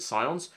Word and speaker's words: scions: his Legion of Scions, S-C-I-O-N, I think that's how you pronounce it, Scions.